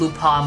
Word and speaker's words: Lupin: The proper French pronunciation is Lupin, but you believe they call him Lupin, and some localizations to avoid copyright, so both are right.